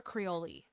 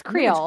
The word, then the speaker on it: Creole: I'm saying it right is it Creole or crei I think it's Creole Creole I think it's Creole as well it just sounded weird